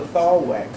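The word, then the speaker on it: thalweg: That's called the thaw wick. technical term for the deepest, fastest flowing part of the stream. Could you spell that, please?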